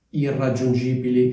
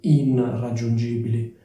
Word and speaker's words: irraggiungibili: vi chiederete Ma perché si dice irraggiungibili e non inr aggiungibili cioè perché la n diventa R semplicemente perché dopo c'è una R e quindi la n diventa una R cioè perché sarebbe difficile pronunciare inr aggiungibile allo stesso modo prima